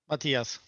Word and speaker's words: Matthias: Is it Matthias or Matthias? Matthias. It's Swedish.